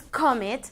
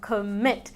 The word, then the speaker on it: commit: No es commit, sino commit. La entonación está al final.